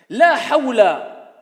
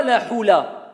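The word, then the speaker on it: لا حول: La hawla, ce n'est pas la hula.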